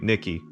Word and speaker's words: NIKKE: Arena, Goddess of Victory, Nikki, or Nikay, depends on how you want to pronounce it.